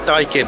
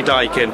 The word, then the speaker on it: Daikin: Come to a heat pump stand, and I found out it's pronounced Daikin. I had to ask. I wasn't sure if it was Daikin or Daikin, but it is definitely Daikin, and it's a Japanese company.